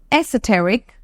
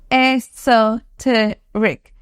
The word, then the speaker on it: esoteric: that we have next again has two pronunciations it's esoteric esoteric esoteric or esoteric esoteric we'll go ahead once again esoteric esoteric the difference is between two accents that we have here it's American and British